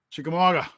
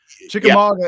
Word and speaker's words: Chickamauga: wrong in my video consistently chick amaga sorry chickamauga i say chickamagua or think or whatever the